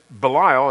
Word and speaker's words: Belial: with belial same word and this belial and that's actually how you say it in the in the hebrew means worthless or wicked